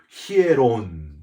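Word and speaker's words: ἱερόν: 오늘 본문에 성전이라고 하는 단어, 헬라어로 히에론 이렇게 발음을 하는데요.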